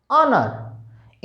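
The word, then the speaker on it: honour: को, एयर, आवर, honest, ऑनर। इन 4 वर्डों से पहले केवल और केवल आप क्या भरेंगे? एन भरेंगे, क्योंकि यहां पर एच साइलेंट है।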